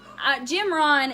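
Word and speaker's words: Jim Rohn: diseases that right there it's Jim Ron it it's it's spelled G I mean J I am just like normal Jim and then Ron ro h n and he is and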